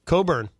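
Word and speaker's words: Cockburn: c kb u RN and how do you pronounce that Coburn I know Alec Alexander Coburn yes what's this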